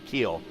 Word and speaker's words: Kuhl: It's Fortner and Kuhl right now, or Keel. I keep saying Kuhl, but that's actually how it's spelled on the. But he tells me it's Keel.